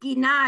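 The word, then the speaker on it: גינה: But gina is how you say, like, if you have a garden in your yard, it's gina.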